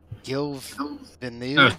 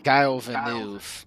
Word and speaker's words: Gilles Villeneuve: I think it's Circuit Gilles-Villeneuve or something like that. I don't even know how to pronounce it. Yeah. I know it's Guile Villeneuve or something like that. Oh, so Gilles Villeneuve, that's what it is.